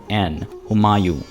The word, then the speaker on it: Humayun: if you want to look it up humayun is spelled h-u-m-a-y-u-n umayu so humayu's tomb um and it's uh there